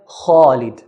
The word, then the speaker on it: Khalid: We have here, Khalid. Please note, we pronounce the kha in a heavy manner. Khalid, not Khalid. Do not pronounce it lightly because it's a heavy letter.